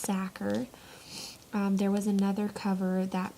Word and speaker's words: Sachar: holes written by Lewis Thakur here's the cover for the longest time I thought that his last name was Sacher very wrong it is pronounced sacker there was another cover